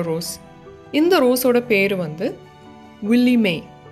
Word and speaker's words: Willie Mae: இந்த ரோஸோட பேர் வந்து வில்லி மே, WILLIEMAE, மே அப்படின்னு சொல்லுவோம்ல, அப்படி தான் ப்ரொனவுன்ஸ் பண்ணணும்.